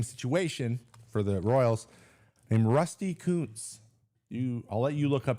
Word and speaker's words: Rusty Kuntz: The longtime first base coach, same situation for the Royals, named Rusty Kuntz. I'll let you look up his name on the internet, but that is how it's pronounced, Rusty Kuntz.